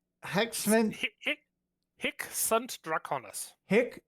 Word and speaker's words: SVNT: Because they pronounce that as a U.